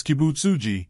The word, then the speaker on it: Kibutsuji: I pronounce that name Ki boot soji the girl squinted reading his name tag as a zuku smiled half-heartedly it's kibutsuji not g-e-e as in ogs but j-e-e as in jeans don't ask me why